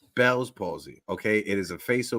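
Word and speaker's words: Bell's palsy: it's it just so people so so it's pronounced Belle's posy okay it is a face paralysis um only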